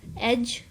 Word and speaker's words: edge: Mills are used for this purpose on large scale: ball mill, cutter mill, roller mill, edge runner mill. D इसमें silent है, edge runner mill, end runner mill, collide mill, fluid energy mill.